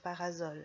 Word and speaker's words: parasol: Quand il est sous le parasol, le serpent siffle, même s'il est entouré de deux voyelles. Ça alors, c'est incroyable. Parasol. Le serpent réussit à siffler entre le A et le O.